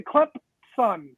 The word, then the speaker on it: Clemson: Clemson with a P, because they say it like they have a P. It's spelled Clemson, but you have to say Clemson son.